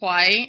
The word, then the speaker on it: kawaii: presentation on kaii so I just pronounced it kaii it's pronounced like Hawaii with a K is the Japanese culture